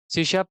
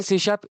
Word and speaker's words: C#: hist के बारे में the first point is सीशा pronounce as अ सीशा तो बाकी के लोग इसे सीश भी बोलते हैं लेकिन इसका राइट प्रोनंसिएशन सी शप होता है देन सीशा प्रोग्रामिंग लैंग्वेज